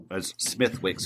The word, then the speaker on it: Smithwick's: I do love Smithwick's, Smithwick's, if you want to pronounce, spell it how it's say it, how it's Smithwick's.